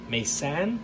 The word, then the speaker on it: MaSan: his name correctly it's capital m small a capital s a n mesan i believe is how you pronounce that but anyway here he